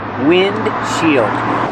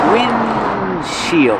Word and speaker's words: windshield: Together, windshield. But you don't really hear the D because it's a stop D. Windshield. You make the position of the D but don't release D. Just windshield.